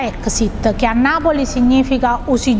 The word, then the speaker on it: EXSEAT: E in questo caso, proprio questo brand che si scrive, si pronuncia Exit, che a Napoli significa usi giù l'inora macchina praticamente, che tradotto in italiano sarebbe il sedile dell'automobile.